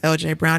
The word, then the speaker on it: Eljae: and my website is LJ Brown. It's spelled phonetically ELJAE Brown. So even Anna Marie can say it.